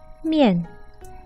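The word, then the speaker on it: 面: it's noodles we until me until the word Mian it's makeup off the Alisha more and the final yen so the syllable is more yen mian mian mian mian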